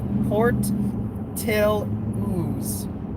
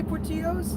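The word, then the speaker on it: Portillo's: monkey 76 says uh it's pronounced port till ooze proper portaloos oh well didn't you say portillos i said all i'm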